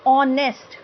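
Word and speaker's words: honest: sound आ रही है ऑनेस्ट तो ओ की साउंड आ रही है एच तो साइलेंट है ठीक है यहां पे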